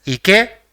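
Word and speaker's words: 池: So it will be pronounced as Ike, which means pond.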